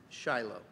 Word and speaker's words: Shiloh: Sheen lamid hey it mean it it is pronounced Shiloh so uh if if you don't change the Hebrew text the way it is it's a personal name Shiloh do Jews view this as um Messianic not